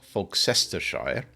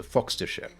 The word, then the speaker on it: Fogcestershire: Lester or lerer uh you don't have to try and worry about how it's written just focus on the eser bit on the Sher bit at the end so foxer share would be the appropriate